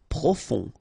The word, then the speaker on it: profond: Profond, final D not pronounced, O-N, on, profond.